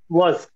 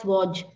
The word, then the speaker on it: was: Was. Correct. So somewhere while you were saying something, I heard it as Waj. So just to ensure that the pronunciation is correct, was.